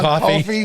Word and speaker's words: Coffey: She's John Coffey. John Coffey. She's John Coffey. in Like the drink, but not spelled the same.